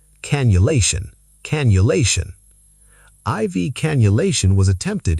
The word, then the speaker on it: cannulation: The double N softens to a U sound. Cannulation. Cannulation.